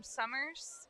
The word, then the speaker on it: Somers: She's from Somers, Connecticut.